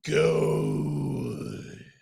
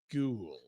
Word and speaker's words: Gould: alongside our boy mik go I don't think that's how you say it that's exactly how I said it it's how you say it uh yeah Mike ghou rhymes with cool rhymes with cool Mike cool is here